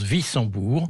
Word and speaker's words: Wissembourg: Wissembourg, c'est un W, on prononce Wissembourg.